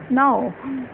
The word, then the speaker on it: know: नो मतलब जानना, यहाँ के साउंड साइलेंट है ना, इसलिए हमने स्टार्टिंग कहाँ से कर दी न से, न और अ प्लस ऊ क्या बन जाते हैं ओ, यानी कि नो।